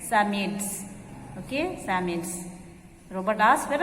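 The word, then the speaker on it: Psammead: symmetes asked robot okay here p is silent summits okay samuels robert asked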